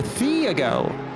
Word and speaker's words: Thiago: Is it Tiago or Thiago? if you just ignore the H, you probably pronounce it better. Oh, Thiago.